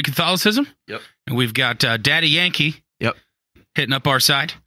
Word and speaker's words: Daddy Yankee: Yeah, maybe he's been witnessing to the Papa Yankee. Papa Yankee? Why'd you make it creepier? How do you say that? It's Daddy Yankee.